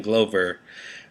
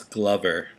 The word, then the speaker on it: Glover: way it's featuring Glover I was saying globe er originally I thought that's how he pronounced his name but it's Glover like as in a glove so I just want